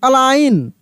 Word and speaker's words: align: उसके बाद देखिए ALIGN, अलाइन, अलाइन, ऐसे पढ़ेंगे। FOREIGN, तो फॉरेन, जी का उच्चारण नहीं होगा, फॉरेन।